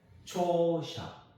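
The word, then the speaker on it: 著者: 우리나라 말 발음하고 좀 비슷하죠. 그렇죠? 그 다음에 초샤.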